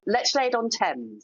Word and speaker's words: Lechlade: Why Lechlade? And did I say it right? And why drew you to settle in that particular area the Cotswwells? Yeah. Well Lech on is the correct name.